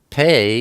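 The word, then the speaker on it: פ: have the oat pay pay is the number 80 and it's pronounced P like Peter or sometimes it's pronounced like an F like Philip pay is the picture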